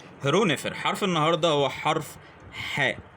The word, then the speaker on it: ḥ: الخيط والترانسليشن بتاعه هو حرف الاتش بيبقى تحتيه نطقه نقطه نقطه حاء وهو بيمثل الحرف الحاء او شبيه بنطق حرف الحاء في اللغه العربيه طيب لو احنا عايزين